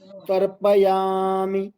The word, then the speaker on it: तर्पयामि: ओम भूः भूः ओम भूः ऋग्वेद पुरुषं तर्पयामि तर्पयामि तर्प त पूरा र आधा प पूरा तर्प तर्प फिर या मी मी म में ई ह्रस्व है तो मी तर्पयामि तर्पयामि तर्पयामि।